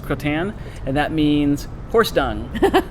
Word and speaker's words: Crottin: It's Crottin, pronounced Croton, and that means horse dung because it looks like a little piece of horse poop.